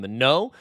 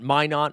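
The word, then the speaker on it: Minott: I was calling him Minot. I was making him from France, and then the chat told me it's why not Minot, and that's why we've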